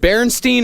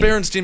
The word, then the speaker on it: Berenstain: a kid is that Berenstein or Berenstain bernstein bears the berenstain bears Berenstein bears no Jewish no it is not it is berenstain bears it is spelled ber e NS t AI n Berenstain what if I said